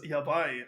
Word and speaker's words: yabai: We have Divine Sunderers versus uh Yay, I believe it's pronounced uh as someone who speaks Japanese, this is indeed my home turf. This is divine sundere versus yabai.